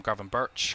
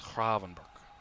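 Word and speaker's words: Gravenberch: actually say Ran Kravenber you don't pronounce the G it'sber and not giving pronunciation tips on Dutch right here right I but that's what I've heard.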